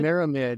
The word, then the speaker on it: Myramid: How do I pronounce this? Myramid? Is it Myramid? Myramid, yes.